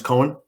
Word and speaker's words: Coen: This PlugIntro platform will be the right pronunciation is Coen.